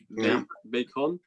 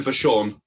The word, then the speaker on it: Vachon: And Luna Bacon. Luna Vachon. Luna Vachon, that's it. Luna Vachon, okay. Right. Jose Lothario and Sensational Sherry definitely did. So they're definites. So Luna Vachon and Sonny.